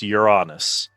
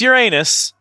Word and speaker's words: Uranus: It is like saying that the planet is pronounced Uranus. It's Uranus. That's the correct pronunciation. We just made up a new pronunciation so people would stop making anus jokes. But it is correctly pronounced Uranus.